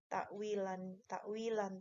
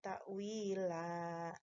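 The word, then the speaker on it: تأويلا: Di sini ada mad asli pada kalimat wi, Ya, dzalika khairu wa ahsanu ta'wila. Ta'wila cara bacanya bukan takwil. Asal katanya takwilan. Karena hukumnya adalah mad iwad, mengganti yang tadinya eh, tanwin fathatain menjadi satu harokatnya, bukan tanwin tapi takwila fathah.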